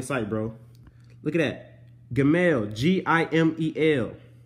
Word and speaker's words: Gimel: This one's G-I-M-M-E-L, but you pronounce it Gim-El.